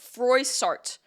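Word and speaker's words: Froissart: in the background now Jean fra I'm sure I'm pronouncing that wrong but forart forart Frey sart that's the English way Jean fra a contemporary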